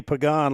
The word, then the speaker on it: Pagan: I was talking to the coach and I said, "It's got to be Pagan like Jose Pagan that used to play for the Pittsburgh Pirates."